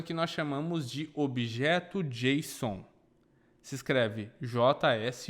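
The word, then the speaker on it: JSON: requisição uma coisa que nós chamamos de objeto Jason se escreve JS o n Ok esse objeto Jason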